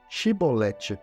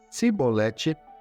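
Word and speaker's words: Chibolete: Se respondesse que não, diziam: então diga Shibolete. Se eles dissessem Sibolete, sem conseguir pronunciar corretamente a palavra, prendiam-no e matavam-no no lugar de passagem do Jordão.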